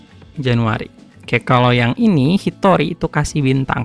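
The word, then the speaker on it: 一人: Oke, kalau yang ini Hitori itu kasih bintang karena ini bacanya e beda sendiri. Hitor Hitori satu orang. dibaca ini kan agak beda. Ini kan harusnya Nin atau jin tapi di sini pakainya Tori.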